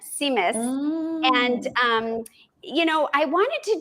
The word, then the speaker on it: Tzimmes: It's pronounced Simus, and it starts Seamless. with, yeah, it's like Tzimmes, I think it is. But you pronounce it, the T is silent, Simus.